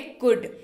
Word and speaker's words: could: करने के क्रम में एल जो है वो साइलेंट पे रहेगा।